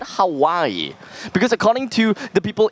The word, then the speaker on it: Hawaii: Then how would you pronounce H-A-W-A-I-I? Wait, slow that down. H-A-W-A-I-I. Howie?